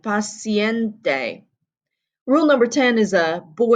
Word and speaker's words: paciente: Rule number 9, paciente, pronouncing the E on the end, paciente.